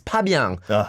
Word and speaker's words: Fabien: So and then after the second one, so my name in Korea is Pabiang. In French it's Fabien with an F, but in Korea it's P.